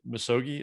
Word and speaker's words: Misogi: Misogi, is that the right way to say it?